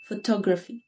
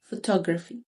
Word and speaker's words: photography: اوكي، اول كلمة photography. photography. اوكي، هنا الستريس الشد على السكند syllable، على المقطع التاني، فتبقى tug photography.